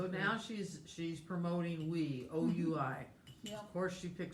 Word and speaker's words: oui: now she's promoting wee, O-U-I.